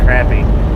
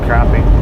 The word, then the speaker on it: crappie: It's not It's not actually called crappy. It's actually called crappie, but it's spelled crappy.